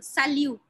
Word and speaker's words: salut: How do we pronounce salut? Salut no T.